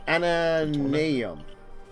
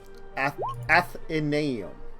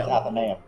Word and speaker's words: Athenaeum: So it's called the Obelisk Ananeum. Athenaeum. Say that 10 times fast. No. Athenaeum. I fear my silver tongue cannot pronounce There it is. this word. Athenaeum. Athenaeum. Yeah, Yeah, Athenaeum. it's Athenaeum.